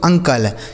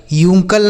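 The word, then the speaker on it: uncle: यू एन सी एल ई इसे पढ़ेंगे दोस्तों अंकल यूंकल नहीं पढ़ेंगे अंकल ठीक है ना इसे पढ़ा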